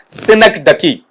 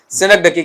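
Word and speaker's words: synecdoche: उन्हें इंग्लिश में figure of speech में कहा जाता है आपका सिनक डकी। इसका उच्चारण भी सुन लेना। क्या पढ़ेंगे बेटा इसे आपका वहां पर? सिनक डकी कहेंगे।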